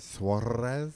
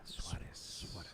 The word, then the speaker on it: Suarez: Is it Suarez? Suarez. Oh, I like that. Suarez. Oh, Ooh. let's coach me. How do you say? Yeah, Suarez.